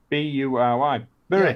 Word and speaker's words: Bury: Well, a lot of people call it Berry, don't they? Bury? There's no E in Bury. Well, I thought Bury's got a Y. B-U-R-Y. Bury.